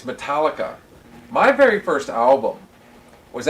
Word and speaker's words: Metallica: She marries Eric, and that's when I get first turned on to, and I used to call them Metallica. I couldn't pronounce it right. And they kept getting on to me. It's Metallica.